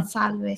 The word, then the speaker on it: Salve: Salve. Salve, ciao. So he's saying to put the syllable stress there on the first syllable.